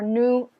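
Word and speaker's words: nous: um the the stress pronouns are pronounced new again these are used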